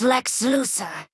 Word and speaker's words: Lex Luthor: Mother, his name is pronounced Lex Luthor, and I think his story will be better written than the Titan Havik invasion.